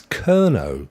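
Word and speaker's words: Kernow: word for Cornwall is kerno k-e-r-n-o-w which I suppose if you say kernel kernel kernel it kind of sounds a bit like it I'm not suggesting that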